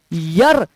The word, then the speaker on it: year: आप अगर YEAR को ईयर पढ़ते हैं तो वो प्रोनाउंसिएशन ही गलत है मेरे भाई। यर इज द राइट प्रोनाउंसिएशन।